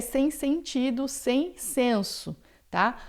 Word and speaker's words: sens: Insensé é sem sentido, sem senso, tá? A palavra senso ou sentido em francês, ela vai ter esse S final que a gente pronuncia, é uma exceção.